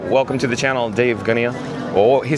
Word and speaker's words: Gunia: But Dave, D-A-V-E, last name G-U-N-I-A, Dave Gunia, I believe the way you pronounce it.